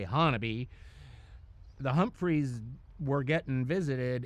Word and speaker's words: Honobia: It was the Humphre and they were outside of this town called Hannabe. It it's spelled Honobia but they say Hannon.